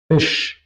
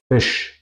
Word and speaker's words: Fisch: La SCH se pronuncia siempre juntos en alemán y se pronuncia como sh. Si quiero callar a una persona, sh, así se pronuncia. Como por ejemplo, Schuhe, Fisch, waschen, waschen, lavar, Fisch, es, Schuhe, zapatos.